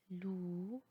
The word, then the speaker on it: loup: champ, cou, loup, trop, drap. La règle est que le P en fin du mot ne se prononce pas.